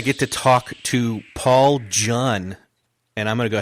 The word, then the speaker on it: Jun: to talk to Paul Jun and I'm going to go ahead and say what he said it rhymes with fun but it's uh with with a J Paul it's Paul it's